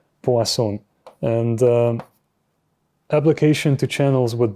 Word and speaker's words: Poisson: So we talk about the Poisson equation, not poison, as some people pronounce it, Poisson.